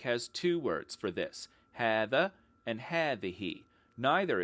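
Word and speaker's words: هذا: word this Arabic has two words for this hatha and had the he neither is pronounced phonetically and the final hat of had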